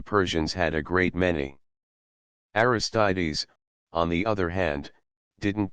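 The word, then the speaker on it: Aristides: trying to be leader one was named the mytical pronounced the mystics and the other aristes pronounced aristes notice how many Greek names seem to end in es the mysticals urged the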